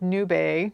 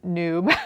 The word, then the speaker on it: Nube: The questions that I've had recently, I was telling about this roving, this Malabrigo, and it's pronounced nube, not noob, like I was pronouncing it Spanish for cloud.